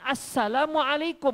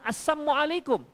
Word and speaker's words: Assalamualaikum: kalau orang-orang kafir-kafir ini mengucapkan Assalamualaikum bukan assamualaikum Apakah ucapannya tetap waalaikum